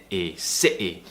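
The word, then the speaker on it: city: tightness in your throat s s sity so that's how we do the glossal te it's tightening the throat really tensing it and cutting a sound out to replace the T it's very Advanced and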